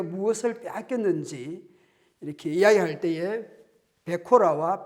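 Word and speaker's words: בכורה: 베코라. 제가 발음이 정확하지 않을 수 있지만 베코라입니다. 그리고 이 복은 베라카입니다. 베코라, 베라카 아주 이렇게 발음상 비슷하고 이렇게 알파벳을 보더라도 상당히 닮아 있습니다.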